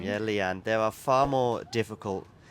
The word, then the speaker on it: Lian: So, let me see if I can get uh It's Leanne, right? To say your name. Yeah, Leanne. There are far more difficult names to spell on the Oh, to pronounce on the tour.